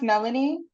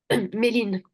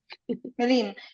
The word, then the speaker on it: Méline: Is it pronounced Melanie? Méline. Meline.